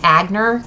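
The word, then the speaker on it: Aigner: you look at it it's spelled a a i g n e r so when you think about it if you don't know how to pronounce it in the language you can you call it you know in American it would be agner so we always joked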